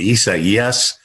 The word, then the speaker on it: Isaias: I mean, Isaias.